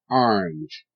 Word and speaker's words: orange: Orange, R, R, E, Inge, Inge, R, Inge, orange. Okay, now notice the A is making a short I sound.